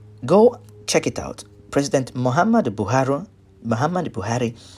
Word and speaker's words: Muhammadu: check it out President Muhammadu Buhari Muhammadu Buhari his name is spelled with Double M and a you at the end that's Muhammadu Buhari now this is a